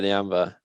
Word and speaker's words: Nyambe: Nyambe plays is that how you pronounce his name, right? At the right back. Yeah, Nyambe.